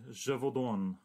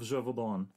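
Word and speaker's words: Gévaudan: The Beast of Gevaudan.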